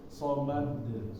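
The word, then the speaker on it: الصمد: Jadi itu karena qalqalah kubro ya Pak. Jadi ketika masuknya sedikit ditahan, tetapi setelahnya dilepas. Somad.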